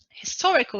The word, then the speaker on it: historical: is the first syllable historical historical is an adjective and the stressed syllable is the second syllable national national is an